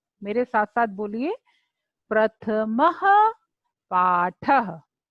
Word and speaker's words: प्रथमः पाठः: अह की मात्रा को विसर्ग बोलते हैं। तो प्रथमः पाठः, उच्चारण कीजिए, प्रथमः पाठः। मेरे साथ साथ बोलिए, प्रथमः पाठः।